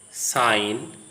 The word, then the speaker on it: sign: If a word starts with GN or the GN is the part of the same syllable, the G is silent, as in the following words coming to your screen: sign, not, gnome, foreign, design.